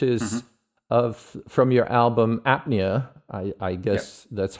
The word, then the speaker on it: Apnea: absorption lines which is of from your album apnea I I guess that's how we pronounce it in the yeah that's correct and